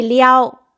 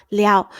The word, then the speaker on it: 撩: 我还是说撩，虽然我知道它对的发音是二声那什么是很会撩呢？